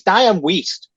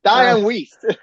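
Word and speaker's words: Dianne Wiest: And it's Dian West. Diane West. West tomato. Tomato. There's two different words alto together. It's dian waste.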